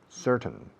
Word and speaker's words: certain: Certain. Tienes ciertos derechos. Certain. Se pronuncia certain, como sí señor, yes sir. Luego ton, como tonelada. Certain.